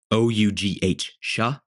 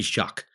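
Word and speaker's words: Shough: Look, Louisville, their quarterback, Tyler Shaw, however you say it, it's spelled, this is how it's spelled, ladies and gentlemen, Shouugh, Shaw. I think it's Shaw. I'm 99% sure it's Shaw, but it could be Shuck.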